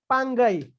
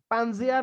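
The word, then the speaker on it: Pangaea: आउ सीटा पांथलसा यस पांगाई पांजिया नो तार प्रोनाउंसिएशन हला पांगाई ओके ए जो लैंड ता थिला एटा को पांगाई बोली कहा जाउतला ओके पांजिया भी नॉर्मली कहि दियोते एटार एक्चुअल प्रोनाउंसिएशन ता होसी पांगाई ओके याको पांगाई कहा जाउतला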